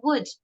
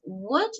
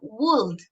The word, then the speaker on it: would: La pronunciación de would es would y no would with L, okay? But would.